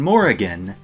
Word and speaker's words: Morrigan: an old legend and i'm going to be pronouncing more again that way developed and produced by